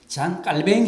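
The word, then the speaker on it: Jean Calvin: 좀 트립 이는 프랑스 사람입니다 그래서 투 랑스 발음으로는 잔 깔 벵기 입니다 좀 흡인 잠깐 맹 쟌피엘 뱅 은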